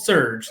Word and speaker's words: SRJ: they have this fun the srj which is called surge that's how you're supposed to pronounce it uh and through that